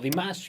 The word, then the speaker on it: Dimash: la manera en que está cantando dimas o demás que me han dicho que es la manera en que se pronuncia hasta el momento podemos escuchar un carácter